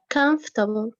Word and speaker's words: comfortable: miss esma comfortable yes this the syllable in red we don't pronounce it okay we read it like that comfortable comfortable so what did we do here we squeeze the word we make it short we squeezed it we dropped this syllable over so we